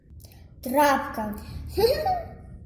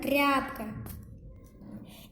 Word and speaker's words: тряпка: Трапка. Нет, правильно тряпка.